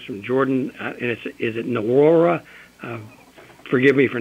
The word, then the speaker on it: Nwora: Well, the N is silent, just for reference. It's Wara.